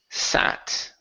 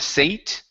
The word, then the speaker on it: sat: Next one here is sat. Right here instead of sate. Okay, that's a short A.